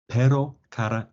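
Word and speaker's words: pero: our bad accents so per it's much closer to what we would say in English if we were saying the name Eddie or Betty quickly say Eddie Betty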